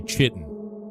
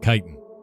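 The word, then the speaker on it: chitin: like when I used to say chitten instead of kitan.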